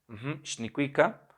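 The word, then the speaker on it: xnicuica: simple letra, que es la letra X, cuya pronunciación es sh. Por ejemplo, a la vez de decir nehuatl, ahmo, nicuica y panoca, ellos pueden decir nehuatl, nicuica, nicuica, nicuica. Shnikwika. El sonido sh es una forma de negar, es una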